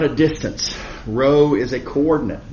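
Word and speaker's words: rho: the how far but row this Greek letter called row pronounced row uh says how far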